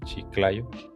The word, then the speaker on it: Chiclayo: Y por acá en Chiclayo, no sé si lo pronuncio bien, sí, Chiclayo.